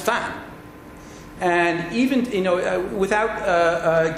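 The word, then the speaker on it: 蕃: of my teachers there, it was always pronounced Fan. It's now pronounced Bo in the People's Republic of China, and if I may say so, this is politicized language or politicized linguistics.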